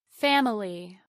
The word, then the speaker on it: family: In this exercise, I will pronounce all the syllables first, then drop the unstressed vowel. Family, family.